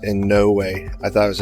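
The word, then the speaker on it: Inouye: It's pronounced in no way. I thought it was in no K, but it's in no way.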